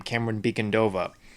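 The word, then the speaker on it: Camren Bicondova: But the character of Selina Kyle, played by, I finally know how to pronounce her name, Cameron Beacondova.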